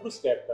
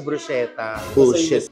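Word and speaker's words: bruschetta: mga pronunciation ' ba brosketa po brusketa yes o hindi siya bruseta k o kasi bu naas Sera baera?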